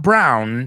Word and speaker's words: brow: Not brown, sino brow, okay?